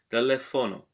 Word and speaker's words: teléfono: But remember, when you now write it, you know that there is an accent on the second syllable because you say teléfono.